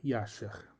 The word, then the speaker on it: Jasher: Em hebraico, não existe som do J, a pronúncia antiga era Yasher.